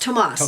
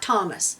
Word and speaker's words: Tomas: And I hope that's how you pronounce it, because here in New Mexico, that spelling is pronounced Tomas, Tomas. not Thomas.